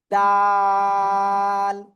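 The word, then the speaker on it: دال: এই যে দাল অক্ষরটা কোন জায়গাতে উচ্চারিত হবে? জিহ্বার আগা সামনের উপরে দুই দাঁতের গোড়ায় লাগিয়া। ডাল।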